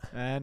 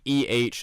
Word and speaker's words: EH: You're listening to the A and Cbg Show. Yeah, it's pronounced A, not the EH and Cbg Show, as one of our classmates so kindly brought to our attention.